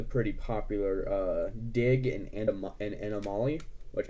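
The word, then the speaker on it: Anna Molly: popular uh dig and animale which actually is actually pronounced anomaly and so it's a word play of anomaly next up is the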